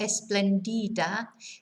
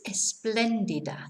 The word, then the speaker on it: espléndida: So notice where the accent is on the second E. So it's not esplendida, it's espléndida.